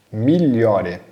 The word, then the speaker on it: migliore: Migliore, olha a pronúncia, tá? GL, né, GL com som de LH.